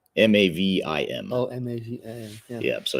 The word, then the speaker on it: Mavim: Yeah, M-A-V-I-V-I-M, Mavim. Yeah. Did I do it right? M-A-V-I-M. Oh, M-A-V-I-M.